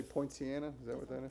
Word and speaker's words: Poinciana: that I think supposed to it's, say Point Sienna? Is that what that is? yeah, Point Sienna. There you go. Don't believe that's spelled correctly, but it's all right.